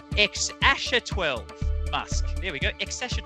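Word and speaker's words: X Æ A-12: and grimes new baby uh which is being pronounced ex asher 12 musk there we go excession 12 bucks and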